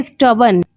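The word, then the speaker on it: stubborn: क्योंकि देखिए बी ओ आर एन से तो बोर्न होना चाहिए था। लेकिन यहां पे बर्न लिखा है।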